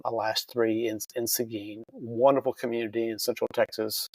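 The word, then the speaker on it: Seguin: cheat a little bit and ask you the pronunciation before, but it is Sigin, Texas, correct? Yes, sir. Mo most recently, I I retired in 2022 uh as chief in Sigin.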